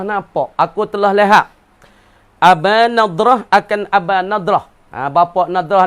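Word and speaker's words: نضرة: Abu Nadrah baca dengan nun, lagi pula dad al mu'jamah, titik sebutik, Nadrah.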